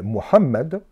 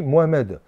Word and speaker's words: Mohammed: Il s'appelle Mohammed et éventuellement en français, quand on ne sait pas prononcer les ha, on dit Mohamed.